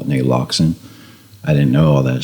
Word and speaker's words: naloxone: name Narcan, and we're going to call it Naloxone.